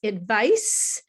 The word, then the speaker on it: advice: But the spelling doesn't really help you, because advice, the first word, is the end sound has a C, and it doesn't sound like a k sound, it's a s.